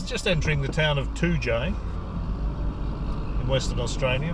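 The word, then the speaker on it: Toodyay: This is just entering the town of Toojay in Western Australia. It's spelled T-O-O-D-Y-A-Y, Toojay. It's a bit of a touristy sort of place, this.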